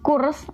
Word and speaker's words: Kursk: Tulisannya itu KURSK. Itu bacanya kan nggak abjad ya, abjadnya cuma U doang. Kursk SK. Jadi bacanya cuma Kursk, ada kayak kol-kolah gitu, tasdik gitu di belakang. Jadi bacanya Kursk.